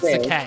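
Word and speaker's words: Sacae: Before you pronounce it And wrong, it's Sakai. Sakai.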